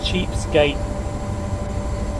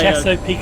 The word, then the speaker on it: Chesapeake: Opened up the coal lands north of Sandy Ridge Mountain, forming a connection with the Cheapskate. No, that's not Cheapskate. Chesapeake and Ohio. Chesapeake and Ohio.